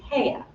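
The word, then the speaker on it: Haigha: happy his name is hea he pronounced it so as to rhyme with May I love my a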